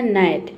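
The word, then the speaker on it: gnat: यानी कि जी लेटर यहां पे क्या है? साइलेंट है। क्यों साइलेंट है? क्योंकि जी के बाद यहां पे एन लेटर आया है। इसके लिए ये होता है आपका नाइट। ठीक है? जी साइलेंट है।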